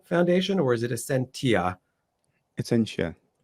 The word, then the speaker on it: Essentia: And forgive me if I pronounce it wrong, but is it the Essentia Foundation, or is it Essentia? Essentia. Essentia.